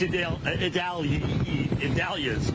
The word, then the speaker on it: Idalia: And it's Idalia's, all right, which if you start saying it fast, you're going to get screwed up. Idalia is how you say it.